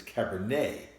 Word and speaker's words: Cabernet: and she said Cabernet Franc right but it's Cabernet why are we pronouncing et a why are we pronouncing that